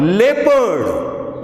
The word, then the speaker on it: leopard: In the word leopard, LEOPARD, here EO is pronounced as A.